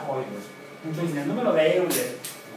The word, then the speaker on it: Euler: Y el diptongo EU en alemán se pronuncia OI, por eso se pronuncia Euler.